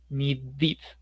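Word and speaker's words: needed: Pero si queremos pronunciar ese sonido de D, se nos va a dificultar porque vamos a decir ni sí, se va a dificultar muchísimo para pronunciarlo y para escucharlo y el objetivo es evitar esa esa confusión. Por eso hacemos el cambio a needid, ¿listo?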